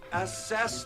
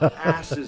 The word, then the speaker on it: assess: It's assess the window, not ass is the window. You put the wrong emphasis on the wrong syllable.